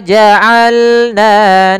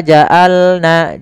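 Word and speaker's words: جعلنا: Ain, hati-hati dalam pelafalan ain, jangan wa ja'alna, jangan hamzah. Atau jangan wa ja'alna masuk ke rongga hidung, tapi dia a. Bagaimana? Dari tengah tenggorokan kita lafalkan ain.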